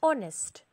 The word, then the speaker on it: honest: before words are and honest when we pronounce these words h remains silent and we use an